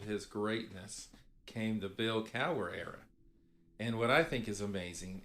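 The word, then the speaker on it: Cowher: had Bill K uh to say his name pronounce Bill Cower in uh he would last at 14 Seasons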